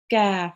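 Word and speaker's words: ك: Kaf. Well done. And a kaf with the fatha is pronounced Ka.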